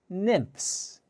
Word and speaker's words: nymphs: let's try it together nymphs nymphs the ph sound sounds like an f nymphs now what do